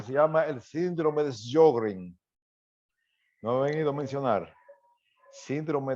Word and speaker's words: Sjögren: Ustedes han oído hablar de lo que se llama el síndrome de Sjögren. ¿No han oído mencionar? Síndrome de Sjögren. Se escribe S-J-O con los dos punticos, apóstrofe, o sea, G-R-N.